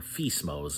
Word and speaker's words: FSMO: Now, what are the five FSMOs or FISMOS is just what I call them because FSMO I have a habit of pronouncing my acronyms.